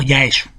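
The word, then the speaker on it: 八重洲: dedicada a este marinero los japoneses pronuncian jean yo gusten como ya eso y por eso la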